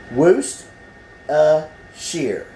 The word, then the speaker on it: Worcestershire: Worcestershire is how you say it. The R, 2 of the R's is about silent. The C, the E is silent.